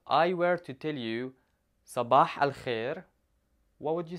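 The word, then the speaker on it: صباح الخير: tuned now to say good morning in Arabic Sabah I'll hear Sabah I'll hear Sabbagh hell here now let's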